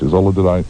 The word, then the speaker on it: Isola: Isola, am I pronouncing your name correctly, first of all? Yes, you are.